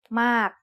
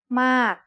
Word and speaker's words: มาก: It's the word มาก and it is said with a falling tone because of this rule.